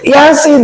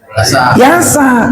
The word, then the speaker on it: Yasin: Yasin enggak kita baca yasa. Kok dibaca sin? Kan itu sa. Ya, huruf aslinya sin.